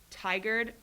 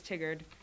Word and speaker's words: Tigard: you mispronounced um yeah i mispronounced tigered i said it was tiggered oh wow let's see